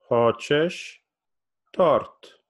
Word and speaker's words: хочешь торт: Hochesh. Tort. Hochesh. Tort. And notice that I kind of raise my voice at the end. Say, Hochesh. Tort. Hochesh. Tort. It's like tort is like raised a little bit.